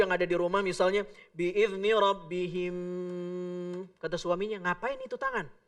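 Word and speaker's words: بإذن ربهم: Dibacanya dengan cara memasukkannya seolah-olah dua huruf mim itu jadi satu dan ya diidghamkan dengan selama 3 ketukan. Biizni rabbihim.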